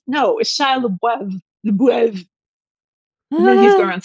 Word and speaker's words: Shia LaBeouf: Yeah, that's not how you say it. It's Shia LaBeouf. It means beef in French. He's trying to cover up the fact that his last name is Beef, which honestly sounds better.